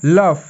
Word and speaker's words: laugh: যেমন লাভ, LAUGH, লাভ। এল তে ল, ইউতে হচ্ছে আয়ের মতো উচ্চারণ হয়।